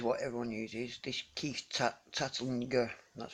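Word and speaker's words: Tantlinger: This Keith Tattlinger, that's how I pronounce his name, not Tattlinger.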